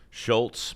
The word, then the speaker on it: Schultze: Life Lessons from the Movie A Christmas Story by Quentin Schultze. There's an E at the end, but he doesn't pronounce it.